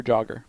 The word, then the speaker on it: jogger: Is it pronounced jogger or jogger? Jogger. It's a soft J.